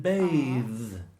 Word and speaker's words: bathe: So bath. Bath. Or bath in RP. And bathe. Bathe. Bathe. Bathe. Bathe. Bathe is the verb and bath is the noun.